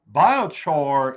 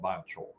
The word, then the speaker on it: biochar: talk bile chore uh biochor is how you pronounce it if you're down from where andy zumwalt's from they call it biochol uh if you're up in new england they call it biocha biocha okay can you